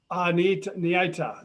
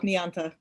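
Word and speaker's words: Niyanta: And so, Niita, did I pronounce your name properly? No, you pronounce the I and the Y both, Nianta.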